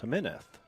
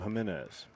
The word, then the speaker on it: Jimenez: Well, if he was from Spain, it might be pronounced Jimenez. Really? But parents are from Puerto Rico, so safe to assume Jimenez.